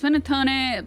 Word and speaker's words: panettone: Panettone, pronounced panettone, is plural, by the way.